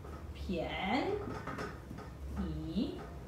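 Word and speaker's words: 便宜: P perlu sebut dengan berangin. Pianyi. Pianyi. Okey, so 6 kata adjektif yang wajib kita tahu ialah besar, tak, kecil, xiao, banyak, tuo, sedikit, shao, mahal, kui, murah, pianyi.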